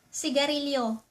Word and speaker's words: sigarilyo: A lak At cigarette, sigarilyo.